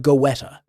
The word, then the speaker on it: goetta: In Cincinnati and across into Kentucky, German families brought over a dish called goetta, pronounced goetta.